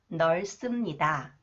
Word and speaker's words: 넓습니다: Okay, this one, when 시옷 comes after the final consonant 리을, 비읍, it is pronounced 쌍시옷, 스 sound. 넓습니다, 넓습니다.